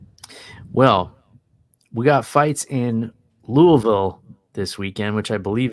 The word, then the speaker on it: Louisville: all right yep well we got fights in Louisville this weekend which I believe is the correct pronunciation I always say Louisville but Louisville yeah it's Louisville right Louisville yep yeah so the land of